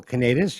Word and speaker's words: Kanatas: Uh, it's actually Canadus.